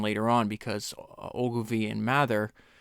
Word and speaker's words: Mather: because Ogilvy and Mather, it's actually pronounced Mather, but I always default to Mather. If you hear me mispronounce it, it's just I'm so used to, I read it as Mather, and so it's kind of stuck in my brain as that.